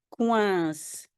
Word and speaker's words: coincent: Ils coincent. Coincé, oui, je peux prononcer comme S, il y a un E qui suit, et ils pluriel, toujours E-N-T.